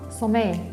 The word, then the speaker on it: sommeil: Ah, ok, sería, avoir, sería, il est tard, le bébé a sommeil. Sommeil. Mhm. Sommeil, ¿no? Ahí se No pronuncia, toca la L se pronuncia, sommeil, No se llega a pronunciar.